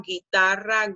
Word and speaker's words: guitarra: So combination G-U-E, combination G-U-I, the U doesn't sound, and you pronounce it with a g sound.